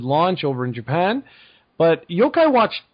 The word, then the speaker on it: Yokai: So Yokai Watch, is that how you pronounce it, Yokai?